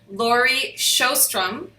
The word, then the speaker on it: Laurie Sjostrom: Sandra and today I have a special guest Lori shostrum is that correct I said it correctly absolutely